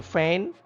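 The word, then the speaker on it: feign: silent here fain in faint g is silent you can underline it fain it means pretend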